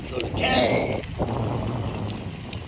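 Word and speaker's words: จระเข้: It's Jolake. Got that accent on that K.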